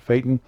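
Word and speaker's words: Phaeton: unusual about it this is a 2014 tiffin fighting as i pronounce it they call it faten and it is a 34 000 pound vehicle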